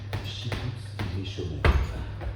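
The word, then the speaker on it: שיקוץ משומם: en hébreu chikout mchom qu'on prononce chikout mchom un terme qu'on retrouvera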